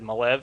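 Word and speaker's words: Maleev: flat out asked him I said how do you pronounce your name he said malev so I'll take it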